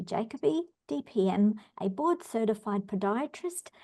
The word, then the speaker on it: Jacoby: board well thank you you gave me the English pronunciation of my name jacobe so I I say jacobe but a lot of people in England say jacobe so but either one is acceptable fantastic fantastic my my